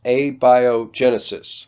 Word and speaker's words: abiogenesis: kent matt nice try on pronunciation but it's pronounced abiogenesis not the worst pronunciation i've heard but close